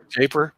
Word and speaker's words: Jaipur: Is that how you pronounce it? Jaipur.